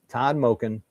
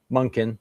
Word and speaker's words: Monken: Let's just hope that Todd Monken Monken, sorry. I got to start pronouncing his name right.